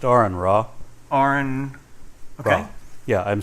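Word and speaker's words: AronRa: It's pronounced Aaron Ra.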